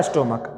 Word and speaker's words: stomach: एक लिखा हुआ है स्टोमक। आप बताइए इसका क्या होगा सिंगुलर से प्लूरल। तो चर्च में उच्चारण क्या आ रहा है च, स्टोमक में उच्चारण क्या आ रहा है क, इसका उच्चारण आ रहा है क।